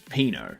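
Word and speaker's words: pinot: Instead of hypno, it's pino, but it's spelled p i n o t.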